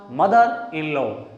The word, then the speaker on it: mother-in-law: Mother-in-law. Again a vowel sound. A vowel sound. So it will be pronounced mother-in-law, sister-in-law, brother-in-law, father-in-law.